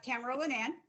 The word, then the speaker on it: Tamara Linnan: yourself welcome you got it right it's uh tamara lynann um they call me tammy girl for those people who can cannot pronounce tamara i really appreciate you having me